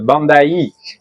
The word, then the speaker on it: Bandai: Et donc il se prononce Bandai.